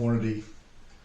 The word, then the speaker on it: Hornady: The Hornady Lever Evolution, that's how they say it.